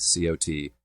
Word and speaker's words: cot: And you can hear, by the way, I pronounce those words, that I do not have that merger because I say cot, C-O-T, and caught, C-A-U-G-H-T, differently.